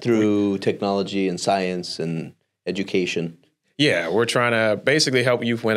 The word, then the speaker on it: Siyanse: birthed the third company which is science and science is spelled s-i-y-a-n-s-e it's birth from the carawanda language